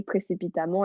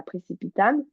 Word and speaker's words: précipitamment: Et ça fait partie des exceptions où précipitamment, ça se dit précipitamment et pas précipitame. Et ça s'écrit avec ENT.